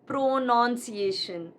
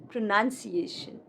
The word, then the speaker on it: pronunciation: It is not pronunciation, no, but pronunciation.